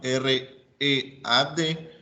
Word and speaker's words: read: Y hay un verbo especial, por ejemplo, el verbo read, que es leer, que en pasado se escribe igual, R-E-A-D, pero se pronuncia diferente, se pronuncia read, you read.